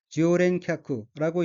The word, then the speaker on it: 常連客: 우선 빨간색 줄심 부분을 보면 첫째 줄 어휘의 한자는 한국어로 상연객이고 일본어로는 지오렌캬쿠라고 읽으며 지오렌캬쿠는 단골 손님을 뜻합니다.